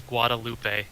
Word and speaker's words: Guadalupe: thank you Kenneth hey Ryan I believe it's Guadalupe Guadalupe Guadalupe okay all right I'm sorry guys